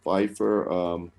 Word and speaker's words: Phifer: Yeah, like I said, my name is Phifer. It sounds like Michelle Pfeiffer, but it's spelled different.